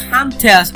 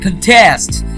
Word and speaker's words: contest: means to complete so the work week stress on the first level is a noun that means a competition the word with stress on the second level is a verb that means to oppose or to compete note that in this